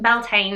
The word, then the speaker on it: Beltane: of overtook paganism so it's pronounced beltane in the uk but i do like